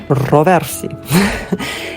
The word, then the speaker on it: Paolo Roversi: Today is the last day of the photo exhibition by Italian fashion photographer Paolo Roversi. Why do I pronounce it in French? Roversi.